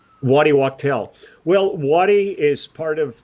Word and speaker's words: Wachtel: How long has Leland been playing with, now, I'm sorry if I don't pronounce this right, Waddy Wachtel? Waddy Wachtel.